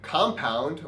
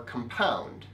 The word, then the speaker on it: compound: word can be either compound or compound as is usually true in english if it's a noun then it's the first syllable that's stress that is compound that's